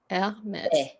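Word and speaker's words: Hermès: So you don't have to remember what it is, but it is pronounced mes. So like the E at the second E is E. Hermes. Yes. So E. A. Correct? Yeah. Correct? It's going down, right?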